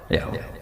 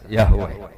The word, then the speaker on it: Yahweh: Yahweh. Iku nak teng ejaan Latin Y besar, A H besar, W E H besar. Yahweh.